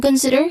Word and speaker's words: consider: Focus and consider here, pronunciation-wise. Second syllable is stressed, said, which has a short e sound.